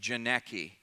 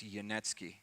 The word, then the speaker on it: Janecky: in the parking lot yanetsky j e n e C k y so it sound it looks like janeki but I've made that mistake before it's yanetsky so if you want